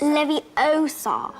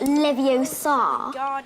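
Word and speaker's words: Leviosa: you're saying it wrong it's Levi Oar not Levi Oar you do it then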